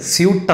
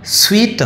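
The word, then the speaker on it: suite: പക്ഷേ ആക്ച്വലി അതിൻ്റെ ഉച്ചാരണം സ്വീറ്റ് എന്നാണ്, സ്വീറ്റ്, സ്വീറ്റ്. നമ്മൾ മധുരപലഹാരം എസ് W double E ടി, അതിൻ്റെ അതേ ഉച്ചാരണമാണ് ഈ വാക്കിനുള്ളത്. ഇനി നമുക്ക് അടുത്ത വാക്ക് നോക്കുക, ഡബ്ല്യു ഒ എം ബി അല്ലേ.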